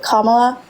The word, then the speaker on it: Kamala: Kamala.